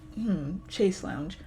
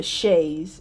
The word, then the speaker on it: chaise: Chase lounge, probably, and several paintings. I examine every corner of the room, but I'm gonna look it up. I hate not knowing how to pronounce words. Alright. It's a chaise. It's a chaise lounge.